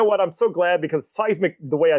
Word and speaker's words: Cysmic: And and yes, everybody mis, you know, mispronounces it if they don't understand what the game is, everybody always says sysmic.